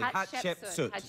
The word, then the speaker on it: Hatshepsut: Pronounce her name properly. Hatshepsut.